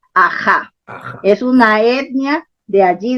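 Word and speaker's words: Aha: También se escribe A-H-A porque se escribe en egipcio, en jeroglíficos egipcios, pero la fonética del nombre está registrado en el runa Simi, Aja.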